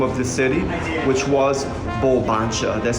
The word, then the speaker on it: Bulbancha: Original name of the city, which was Bulbancha. That's spelled B-U-L-B-A-N-C-H-A.